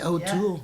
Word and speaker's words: O'Toole: T-O-O-L-E, O'Toole. Yeah. Is that pronounced O'Toole or Toal?